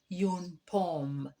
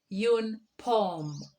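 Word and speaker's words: une pomme: an apple an apple in french is called yoon pom please repeat after me in order to get the correct pronunciation yoon poem secondly we have a pear a pear is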